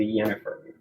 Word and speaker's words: Yennefer: This is Her name's That's Jennifer. That's from Harold and But Kumar. it's pronounced Yennefer. No, wait, it's with a Y.